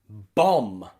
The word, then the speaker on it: bomb: often be confusing because b is a common silent letter that means that many words contain this letter b but we don't say it okay words like bomb and tomb and comb okay all of them